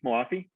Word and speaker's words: Moafi: actress oh uh sepi we call their sepi moafi okay yeah that be all right i just